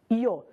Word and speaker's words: yo: do local da pronúncia Quando você estiver na Espanha maior parte da Espanha o y que o Yo é y o ele vai ser pronunciado como i o y é pronunciado como I aqui na América na maioria da América ele é pronunciado como J então para você não